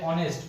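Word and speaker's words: honest: यहाँ पे एच जो है ऑनेस्ट नहीं बोला जा रहा है, एच जो है यहाँ पे साइलेंट है, दैट्स वाई यहाँ पे एन लग रहा है, ठीक है।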